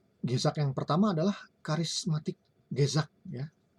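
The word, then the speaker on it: gezag: Nah, tadi yang pertama, Gezak yang pertama adalah karismatik Gezak ya. Harusnya kita membacanya Gezak ya, tapi ini kan susah ya lidah orang Indonesia ini. Ya, kita cukup Gezak sajalah ya membacanya.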